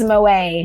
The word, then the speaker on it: Moet: It's Moet. Moet. Yes, Moet, darling. Oh. The T is silent.